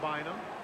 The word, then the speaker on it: Bynum: How can that be pronounced Bynum? Because that's the way his brother and dad pronounced it.